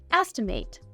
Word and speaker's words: estimate: of something as a verb this word is pronounced estimate it can also be used as a noun